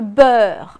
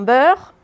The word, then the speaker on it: beurre: disais toujours, mais attention, dans beurre, ça ne s'écrit pas comme ça se prononce. Et on le rappelle. Parce que le but du jeu, c'est quoi? C'est que finalement, ils retiennent que beurre s'écrit EU alors qu'on prononce E.